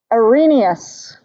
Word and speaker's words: Arrhenius: So you should be able to define a strong, what's the pronunciation of that? Arrhenius.